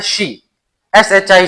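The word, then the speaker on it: し: क्योंकि Japanese language में four के लिए लफज़ इस्तेमाल होता है शी। एस एच आई शी।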